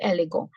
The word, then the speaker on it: élégant: So now this is last letter T, no sound, elegant.